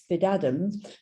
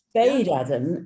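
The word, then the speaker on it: Spadeadam: And Anna thinks it's Spid-Adam. Spid-Adam, oh, right. Spade-Adam is the correct pronunciation.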